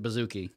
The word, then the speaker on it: bouzouki: am butchering that pronunciation know that that's how you pronounce it bouzouki is it really yeah